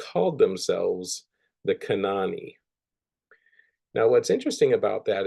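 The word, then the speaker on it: Kanawha: Charleston area and they they just call it Cana so it's Cana and it's named after the kenoi uh tribe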